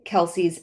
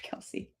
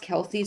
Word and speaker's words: Kelce: It's pronounced Kelse, but that it's been mispronounced Kelsey so long that they just go with it.